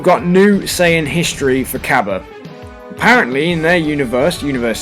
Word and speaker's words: Cabba: got we've got loads of new information on Caba as his name has now been I want to say confirmed to be pronounced but there's also another way of pronouncing